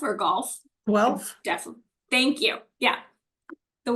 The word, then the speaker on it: Guelph: I feel like it's Guelph or golf? Guelph. Definitely. Thank you. Yeah. The way that Chris pronounced it, that's where he's from.